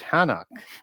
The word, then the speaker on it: Enoch: Enoch in Hebrew it's hanuk right and the H would be sort of silent in that and then